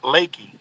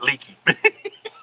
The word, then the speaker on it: Lakey: Pronounced Lakey, not leaky.